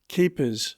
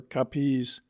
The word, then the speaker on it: Capiz: such as saying Cavite for Cavite, the naval port of Manila, Capiz for Capiz, a town in Panay, and so on. And though they pronounce Haro exactly the same as the English